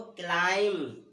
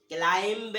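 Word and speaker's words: climb: इसको कॉम, इसको डम, इसको लैम, इसको क्लाइम, क्लाइंब नहीं बोलते, बी नहीं होता, क्लाइम।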